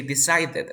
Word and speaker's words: decided: super amazing and here remember to say decided right decided but this tea is between two vowel sounds so you pronounce like R so you say d ah this I decided excited and when you have